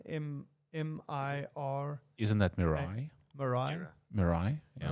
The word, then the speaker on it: Mirai: don't even know how you know how you pronounce it myra m-m-i-r isn't that miranda mariah mirai yeah right yeah there you go it looks